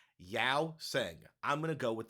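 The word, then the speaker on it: Yeosang: How do you pronounce that member's name? Yao Sang.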